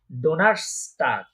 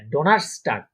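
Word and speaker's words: Donnerstag: এটার উচ্চারণ হবে কি? ডোনার্সটাগ। হ্যাঁ, ডোনার্সটাগ।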